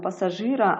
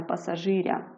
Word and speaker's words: пасажира: базару а не базарі або слово пасажир немає кого пасажира наголос у нас твердо стоїть на літері і відповідно це тверда група Ми кажемо пасажира а не пасажиря переходимо до м'якої групи